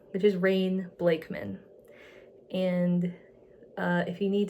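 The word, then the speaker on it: Rayne Blakeman: going to be under my name which is rain blakeman and uh if you need to know how to spell that it's r a y n e blakan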